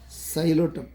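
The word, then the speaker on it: Psilotum: No, P is silent. P is silent. Xylotum. How to read this? Xylotum.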